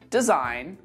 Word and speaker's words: design: Let's move on to the letter G, and we don't pronounce this letter in words like campaign, assign, design, sign, reign. Say it after me.